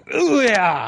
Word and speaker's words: Ouya: You've got to say it like you're trying to discharge your bowels. Just watch that you don't. You sit on the toilet going, Ouya!